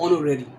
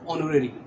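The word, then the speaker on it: honorary: अ job that carries no salary, ऐसी जॉब जिसमें कोई सैलरी नहीं होती, इट्स कॉल्ड ऑनोरेरी। होना नहीं पड़ेगा इसको, यहाँ पर वॉल साउंड है, एच साइलेंट है, ऑनोरेरी।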